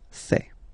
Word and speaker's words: fais: Remember, final S not pronounced. Je fais.